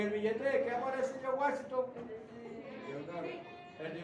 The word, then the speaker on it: George Washington: Entonces, se nombra a George Washington. Fíjate, George y Jorge se escribe diferente y se pronuncia diferente. George Washington. ¿Ah? George Washington. ¿Ah? Es diferente de Jorge. Si usted me dice Jorge Washington, ese yo no lo conozco.